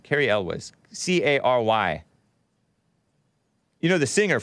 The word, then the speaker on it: Cary Elwes: How do you pronounce that name? Cary Elwes.